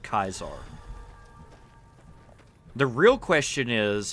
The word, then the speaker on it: Caesar: here's a better question why do people say Caesar like why would anybody in this area say Caesar if this Dude shows up saying I'm kaisar and this is Kaiser's Legion